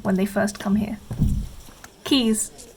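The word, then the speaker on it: Caius: they first come here keys short for gone villain keys it's situated right next to the senate house and often features in tourist photos and no one pronounces it right until they hear it for the first time natsuki this is a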